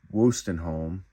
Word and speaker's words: Wostenholm: This is I guess you would pronounce it Wostenholm. That's how I would always think it was pronounced.